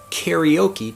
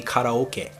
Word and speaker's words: karaoke: word karaoke before but if i say karaoke to japanese people they have no idea what I'm saying the correct pronunciation I can't even say the word pronunciation properly but the correct pronunciation of the word karaoke in Japanese would be kataoka and what we're doing